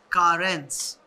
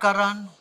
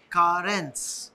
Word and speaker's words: Carens: So guys, Kia has come out with a new car and it's pronounced as Carens. Carens. Carens. Not Karan, not Kiran, not anything else. Very simple. Carens.